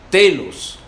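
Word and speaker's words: τέλος: La palabra fin, una palabra griega que se pronuncia telos, de la raíz tello, con doble L, que dice fijar fuera por un punto de referencia o meta.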